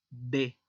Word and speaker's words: des: Ahora, si se une la preposición de plus le, forman el artículo contracto de. Se pronuncia de y se escribe D-U-S, o sea, D-E-S.